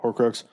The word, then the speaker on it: Horcrux: So every Horcrux, pronouncing that right? Right. Yep. Horcrux still has a soul on Earth that's connected to it.